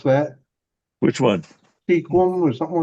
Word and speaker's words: Sequim: Pronounce it right. Squim.